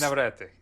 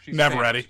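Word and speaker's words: Navarrette: She's Navarrete. No, that's Italian. She's Navarrete. She's Navarrete. Spanish, okay. The Spanish pronunciation would be, Okay.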